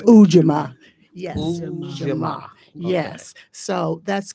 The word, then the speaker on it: Ujamaa: It's Ujamaa.